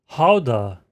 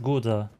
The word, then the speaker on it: Gouda: Yep, that's how you pronounce it, guys. Oh, and keep... Gouda. It writes Gouda. I would read it Gouda.